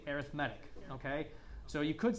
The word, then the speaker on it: arithmetic: But because we're using it as an adjective here to describe sequences, we say arithmetic, okay?